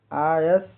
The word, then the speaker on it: eyas: EYAS का उच्चारण pronunciation आयस, ईएस।